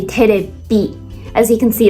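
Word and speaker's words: テレビ: English is television or TV in Japanese is called terebi. I guess the V pronunciation is one of the most difficult letters for Japanese people to pronounce because there isn't a V sound in Japanese language. They have the B sound, but not the V sound.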